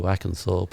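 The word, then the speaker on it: Hackenthorpe: we moved to Ackenthorpe, and that's with an H. Okay, I can't pronounce my H's.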